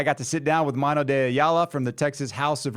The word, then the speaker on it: Mano DeAyala: Mano DeAyala.